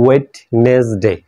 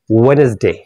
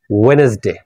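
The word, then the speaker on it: Wednesday: এরপর আমরা বলি এটাকে, এরপর দেখো লেখা আছে ওয়েডনেসডে, কিন্তু এটা সঠিক উচ্চারণ হচ্ছে ওয়েনেসডে, ওয়েনেসডে, ওয়েনেসডে।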